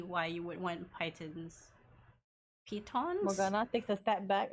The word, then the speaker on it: piton: It's not Python, it's P-I-T-O-N. Like an I, not a Y.